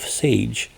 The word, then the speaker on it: Sage: The name sage is pronounced and this is how the phonetic pronunciation it rhymes with page or cage which is a very good suggestion because it means sage.